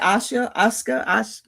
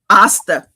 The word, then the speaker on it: Asta: James, how do you pronounce? I keep saying it. Asuka. Isekai. No. James said I would not like it. What is it? Asuka? You're muted. Asta.